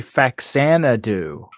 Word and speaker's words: Faxanadu: It's actually Faxanadu. And, like, I always pronounce it Faxanadu.